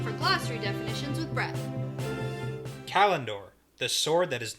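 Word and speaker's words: Callandor: Kalendor. Yes. Good pronunciation.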